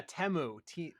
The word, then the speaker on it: Temu: 15 Temu ads, which that's apparently how you pronounce it now. Yeah. Yeah, Temu.